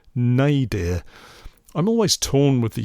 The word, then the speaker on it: nadir: Apparently, to speak the word correctly, it's pronounced nay, dear.